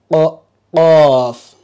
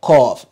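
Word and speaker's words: قاف: Again, qaf. So don't say cough. Don't use the K sound, not cough. Don't also use the Q sound, please. Try to pronounce it like how the Arabs pronounce it.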